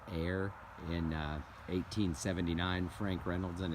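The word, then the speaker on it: Ayr: so this is a why are I'm gonna pronounce that air in 1879 Frank Reynolds and his family from Air Scotland settled on the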